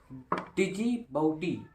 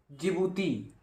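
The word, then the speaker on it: Djibouti: डिजिबाउटी, जिबूती, इसमें D silent रहेगा, तो जिबूती आचार संहिता संबंधित है, तो इसका ऑप्शन नंबर बी हो जाएगा, समुद्री डकैतों के विरुद्ध अंतरराष्ट्रीय समूह।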